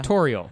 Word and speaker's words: Toriel: say her name properly torial tutorial without the T in front of it so torial yes torial Toral well I had